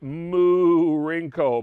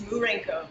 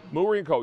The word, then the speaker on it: Moorenko: on your show especially a thrill now i pronounced it moo rinko because i was doing a little play on words with the cow there but that's in it so is that is that correct is it mourinko it's murenco mureenco you're located in washington dc